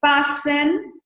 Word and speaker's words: fasten: that okay so it's fastened look at here that the T is not pronounced fasten and unfasten the